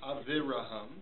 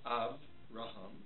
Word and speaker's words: Avraham: It's not shimmeon. It's not aviraham. It's avraham. Shimon. Okay?